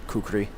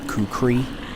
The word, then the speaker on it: kukri: Maybe you don't know what a kukri is. Especially since it's spelled differently than it's normally pronounced. Which is, it's spelled kukri. But there's supposed to be an extra syllable in there.